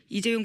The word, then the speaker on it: 이재용: 최순실 씨가 이재용 부회장 이름을 이재룡이라고 주로 발음한답니다.